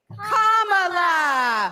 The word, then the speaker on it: Kamala: do you pronounce it first you say comma like a comma in a sentence Danny say la like la la la la la put it together and it's one two three commala all right so let's